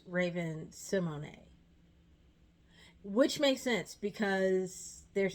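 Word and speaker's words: Raven-Symoné: I learned I was pronouncing it wrong. I thought she was Raymond Simone the whole time. Raven Simone the whole time, but now I found out she was Raven Simony, which makes sense because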